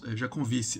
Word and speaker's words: Jancovici: interessou o Jean Marques jeankovic jeankovic já com Vice eu acho que é assim que se pronuncia francês ele tá sempre